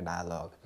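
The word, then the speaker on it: dialogue: आई ए एल ओ जी के बाद ई आ गया साइलेंट हो गया डायलॉग next word is there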